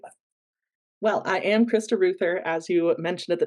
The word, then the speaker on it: Reuther: at the top, and just nailed the pronunciation of my last name. Sometimes that throws people off. They try to call me a roofer, which no, not correct.